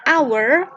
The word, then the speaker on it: hour: Dan an hour, karena ini bacanya hour, A, maka kita juga menggunakan an.